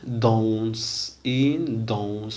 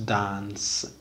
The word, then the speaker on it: danse: إذا كما ترون هنا عندنا une danse ما تنقراوهاش dance، une danse on long dans ton bon son quand rond gon fond pont.